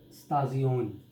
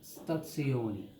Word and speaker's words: stazione: It's not stazione. It's an Italian language word and it's pronounced as stazione, because this, what we are seeing as Z or Z, this one is TS, so it's stazione.